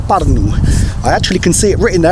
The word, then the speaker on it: Pärnu: I'm going to say you pronounce it Pärnu.